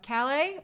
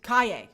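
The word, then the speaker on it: Calle: love it i have to say sasha uh calais uh looks kaye that's how you pronounce it sasha kaye looks so good as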